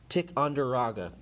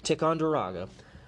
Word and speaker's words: Ticonderoga: The cannon seized at Ticonderoga, I got too cocky, I said it wrong, Ticonderoga, would make their way to Boston to help free the city from the British.